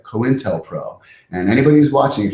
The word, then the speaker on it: COINTELPRO: Anyway, COINTELPRO is spelled like coin, COINTELPRO.